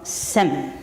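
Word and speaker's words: སེམས: word that comes from the term sem in tibetan sem is written s-e-m if you're writing phonetics and if you're transliterating then it is s-e-m-s sem is one okay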